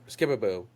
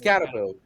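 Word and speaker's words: Skattebo: Skibaboo. Cave Scataboo. Scataboo. Why' I say Skip? There you go, Joe. It only took three tries. No, I had it up how to pronounce his name. Cam Scataboo. Scataboo.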